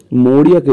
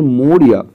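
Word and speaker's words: Maurya: দেখো সি বলতে কাকে বোঝাচ্ছে বলতো সি বলতে মৌরিয়াকে বোঝাচ্ছে ওদের যে মা আছে ওদের মা মৌরিয়া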